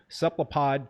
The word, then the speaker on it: cephalopod: Has done groundbreaking work with cephalopod, did I pronounce that right?